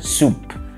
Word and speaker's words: soup: شوربة بالانجلش اسمها soup. soup مش soap عشان في ناس بيقولوها soap.